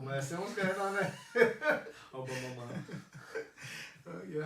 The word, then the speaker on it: Aubameyang: Aubameyang.